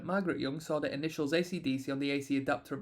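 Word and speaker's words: AC/DC: performances of their music ACDC is pronounced one letter at a time while the band that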